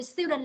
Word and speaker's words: student: Từ student là nhấn âm 1, đúng không bạn?